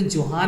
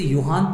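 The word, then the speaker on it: Johann: बच्चे होंगे वो बोलेंगे सर ये तो जोहान है, इसे जे से पढ़ेंगे, आपको तो आ ही नहीं रहा है, ये जे नहीं पढ़ेंगे, इसे योहान पढ़ेंगे, that is the correct pronunciation for that word.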